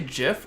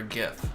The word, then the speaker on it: GIF: memes or jeff's also do you guys say jiff or gif i say jif soft g i guess really wish there